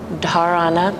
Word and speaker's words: dharana: is that yes so there's a d and h together and in the language it's pronounced da dharana so dharana means what